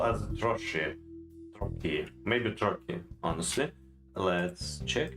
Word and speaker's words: trochee: Trochee, Troki. trochee, I can do the T a little bit softer as they do.